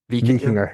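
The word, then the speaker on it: Víkingur: Do you expect the Icelandic outfit, Vikinger, pronounce it for me, please? Vikinger, yeah.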